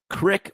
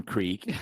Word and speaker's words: creek: iron versus iron that one you can actually phonetically kind of make sense of Crick from Creek is I'm sorry you're uh